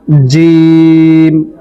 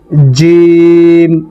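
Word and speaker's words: جيم: সা এই অক্ষরটির নাম জিম। এটি তিন আলিফ পরিমাণ টেনে পড়তে হবে। জিম। একটু শক্ত করে। জিহ্বার মধ্যখান এবং তার বরাবর উপরের তালুর সঙ্গে লাগিয়ে এটা পড়তে হয়। জিম।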